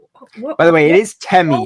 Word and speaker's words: Temi: spell that again? You're Almiraj. A-L-M-I-R-A-J. And his name is T-E-M-I.